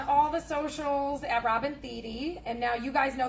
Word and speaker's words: Thede: And now you guys know that my last name is pronounced Thede, not Thede. So if anybody says it, you can correct them because we're all friends. Really, that's the only reason why I got a TV show, so people would pronounce it. It's a long E.